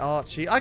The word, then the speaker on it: Archie: AJ, Archie. You can see where I've got that mixed up. AJ, Archie. It's sort of it's two syllables.